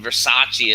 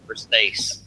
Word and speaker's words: Versace: I mean, Versace is how some people pronounce it, like dumbasses, but it's pronounced Versace.